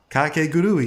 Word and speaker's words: Kakegurui: That's such an easy word to pronounce. But the word you just said, I don't know. Kakegurui.